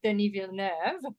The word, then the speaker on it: Denis Villeneuve: I should stay humble, but nearly as well as Denis Villeneuve. By the way, that's the correct pronunciation.